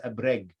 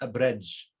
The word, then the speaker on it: Abreg: that i chose for the dog is abreg but it can also be pronounced abridge or abrech okay and throughout all